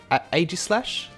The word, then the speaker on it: Aegislash: Wave 1 is going to contain, I don't know how to pronounce this Pokemon's name properly, Aegislash?